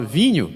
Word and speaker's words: vin: Como é que você fala vinho em francês da França?